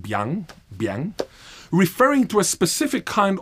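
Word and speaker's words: 𰻞: Consider the most complex Chinese character I have ever encountered, pronounced something like biang, referring to a specific kind of noodle known in Xi'an, China.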